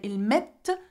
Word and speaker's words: met: even the T actually, we do not pronounce the T, except for nous mettons, vous mettez, which are the endings for nous and vous.